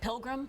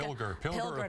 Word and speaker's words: Pilger: And earlier, was it Pilgrim, Nebraska? Pilger, Nebraska. Forgive me if I pronounce it wrong, but it's Pilger, Nebraska.